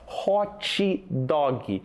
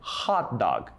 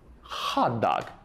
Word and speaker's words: hot dog: conhecido como hot dog outra palavra que a gente prolonga muito o som dela né ó hot dog mas a pronúncia correta é hot dog hot dog certo Então olha só